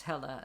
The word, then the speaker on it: Helle: My name in English is usually pronounced Hella, as if it's written with an A at the end.